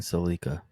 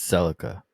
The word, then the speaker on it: Celica: it hang on and why do you keep saying Celica it's Celica it's pronunciation differences I know